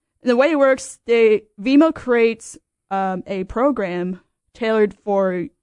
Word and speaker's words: Vemo: So I've come across a startup called Vemo. It's spelled VEMO, Vemo Education.